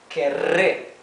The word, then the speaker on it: querré: So here we can see that this double R is pronounced R. Okay, it is the rough sound of the R. It's not the soft, the smooth sound R, like hablaré, right? Comeré. It is querré, R. Okay, so you have to try to pronounce that with it's a more dental R sound.